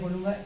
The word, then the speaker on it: belle: Beautiful को हम बेल बोलते हैं, we just add B before the एल, it becomes बेल। बेल means beautiful, BELLE। Pronunciation is same as BELL in English.